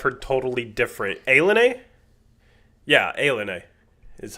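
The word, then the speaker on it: ilani: Is that how you pronounce it? I've heard totally different. Alen. Yeah. Alen is how you pronounce it.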